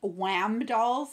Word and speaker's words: WAMDOLL: videos of people opening Wham dolls. It's spelled W-A-M, Wham doll.